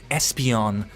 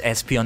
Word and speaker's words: Espeon: Espeon pure psychic type I only learned recently that is pronounced Espeon and not Espeon I I don't know why I thought it was Espeon like it makes more sense Espeon because esper right um so yeah you